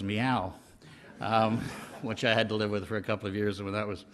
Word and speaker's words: MEOI: and Innovation, which had the acronym MEOI, the regrettable pronunciation of which was meow, which I had to live with for a couple of years when that was my job.